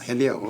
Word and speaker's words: Hillel: Did I pronounce it correctly? Yes. Hillel, okay.